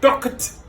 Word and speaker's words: talked: C'est pas talked, c'est pas talked, c'est talked. Ça, c'est frothed.